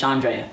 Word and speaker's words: Chandrea: So, my first name is Shandrea. Okay. It's spelled C H A N D R E A.